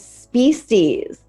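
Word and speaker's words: Speesees: in San Francisco and the name was species and it was spelled s-p-e-e-s-e-e-s and they said on their website that the reason it was called species is because that's how babies would spell species if babies could spell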